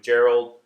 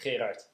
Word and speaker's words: Gerard: Hi, Jim Hotaling here again, continuing my conversation with Gerald, best pronounced, Gerard.